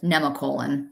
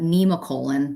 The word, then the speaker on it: Nemacolin: Nate and I last weekend we went to Nemacolin. I always called it Nemacolin, but it's in Farmington, Pennsylvania, and apparently it's pronounced Nemacolin.